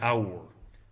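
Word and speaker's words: AUR: setting was um the the hour uh that's how we pronounce this this kind of uh This Acronym here hour um that's the alliance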